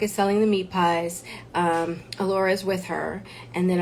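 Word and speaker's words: Elora: And Allura, that's how you say it, Allura.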